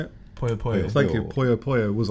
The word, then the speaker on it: Puyo Puyo: Puyo Puyo.